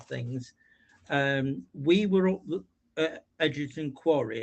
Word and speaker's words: Egerton: Egerton, yeah, that's how it's pronounced, yeah.